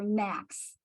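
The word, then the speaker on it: NAAQS: ambient air quality standards or knacks it rhymes with snacks which helps you remember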